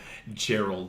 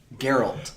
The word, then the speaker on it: Geralt: Gerald. Mila. Okay. Geralt. Yes, thank you. I have to think of the G. That's the only way I can say it right. I picture a G in my head.